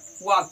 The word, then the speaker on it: walk: फिर आता है वॉक, WALK, वॉक। यहाँ पे यल साइलेंट है, ठीक है।